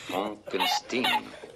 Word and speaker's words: Frankenstein: Mon nom, monsieur, se prononce Frankenstein.